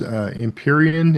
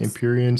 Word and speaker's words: Empyrean: Though the most read books this year were Rebecca Yarrow's Empyrean, is that how you pronounce that? Yes. Empyrean series.